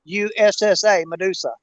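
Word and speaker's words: Mudussa: That's spelled M-U-D-U-S-S-A, Medusa. Like mud.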